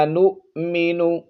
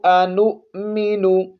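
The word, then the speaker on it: أنؤمن: یہاں پر واو کو نہیں پڑھنا، یہاں حمزہ بشکل واو ہے. نو میم زیر می، نون پیش نو. انؤمن.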